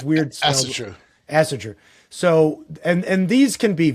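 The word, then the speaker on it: Ásatrú: Asartu, Asaratu. Yep. It's weird. Asatru.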